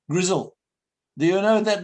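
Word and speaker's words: Grizel: look and see that's a girl that name Grizzle do you know that name Grizzle it's a quite a good night it's spelled all sorts of ways sometimes with the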